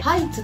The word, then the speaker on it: ハイツ: コンビ名の由来は 2 人の誕生日 8 月 1 日と 8 月 2 日を合わせて 812 にしてハイツと読むと、そこに